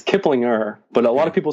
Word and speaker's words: Kiplinger: It's a softer like kind of glide over the G.